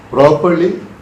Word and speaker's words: properly: Properly, also the second R is silent. Properly. You can just say properly. No need of that. You can actually think there is no R when you're talking about properly.